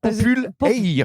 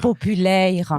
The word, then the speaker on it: Popul'Eyre: Popul Air. Popul Air. Voilà, parce que c'est en 2 mots.